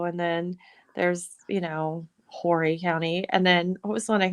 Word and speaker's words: Horry County: that count that as well I called it Horry County and I was corrected and it's pronounced Horry County I just you know I didn't call in